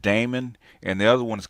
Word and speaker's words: Daemon: What they call it, demon, but I call it Damon because that's the way it's spelled.